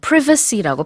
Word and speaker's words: privacy: 이 privacy라는 단어는 영국에선 또 privacy라고 발음을 하기도 합니다.